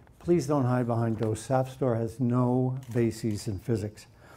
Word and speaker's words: SAFSTOR: It's Safstor. It rhymes with sap, not Safstor. There's no E there.